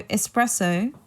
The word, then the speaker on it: espresso: got distracted there so espresso you want to pronounce it without the X right so I hope